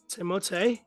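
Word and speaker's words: Timothée: in the notes about timot shalam timote that's technically how he pronounces it um back in 2010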